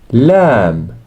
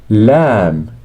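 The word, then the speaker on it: لام: in Kai CF good lamb lamb pronounced like the L in love lamb lamb me me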